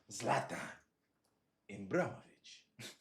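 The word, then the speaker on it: Zlatan Ibrahimović: I know how to pronounce his name. Zlatan Ibrahimovic.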